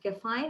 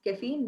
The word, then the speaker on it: caffeine: it's ghrelin and uh the word caffeine was mispronounced as kefine it's caffeine not defined and in place of you could